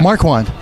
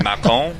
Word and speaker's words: Marquand: The true pronunciation is Marquand, which is French, and it's.